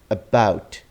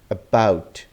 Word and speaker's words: about: So we see that there is first a schwa sound. So schwa is the tiniest sound, the smallest sound. So this will be pronounced as about, about.